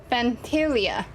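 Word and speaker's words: Phantylia: That's how you pronounce the name, Pantilia.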